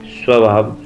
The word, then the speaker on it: स्वभाव: बताया ना जैसे कि स के बाद व्यंजन आया तो उसका उच्चारण उ हो जाता है। जैसे स्वास्थ्य, स्वभाव, स्वर्ग, स्वार्थ, जबकि इसमें